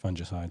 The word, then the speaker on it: fungicide: Fungicide. Sorry. Fungicide. No. Which one do you say? Everybody says it differently. Fung I I say hard G. Fungicide.